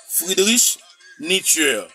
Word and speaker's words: Friedrich Nietzsche: Moniteur, attendez bien comment prononcer moi. Friedrich Nietzsche.